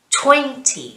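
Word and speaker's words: twenty: you can see here i've underlined the stressed syllable as i did in lesson 3 20 so twin is the strong syllable 11 11 3 3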